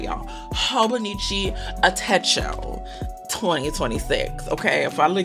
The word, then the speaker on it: Hobonichi: Hobonichi ao 2026.